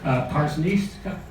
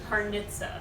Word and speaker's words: Parnizca: Parista. I haven't heard that one before. It's Parita. Parnit. It doesn't look like it. So, so the ZC is a T.